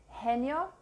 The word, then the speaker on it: genio: But it sounds like a H as in hat before E or I. Genio, generoso, gitano. H is silent.